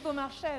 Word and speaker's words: Beaumarchais: En tout cas, Maestra Capella, je vois que vous prononcez exactement comme il se doit Beaumarchais. Oui, Beaumarchais, non, parce que c'est formidable, Beaumarchais.